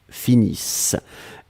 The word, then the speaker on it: finissent: Nous finissons, vous finissez, il, elle finissent. ISSENT, mais on ne les prononce pas, donc le ENT comme d'habitude.